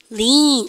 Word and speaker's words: lean: 동작 중에서 우리 반요 EA나 EE가 겹치면 쌤 발음 어떻게 합니까? 길게 당겨줍니다. 리님이가 리님이가 lean.